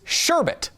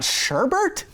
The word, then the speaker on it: sherbet: not always right apparently the most commonly accepted and the correct pronunciation of sherbert is sherbet what what people sell sherbet you get sherbet ice cream it's not sherbert really I had no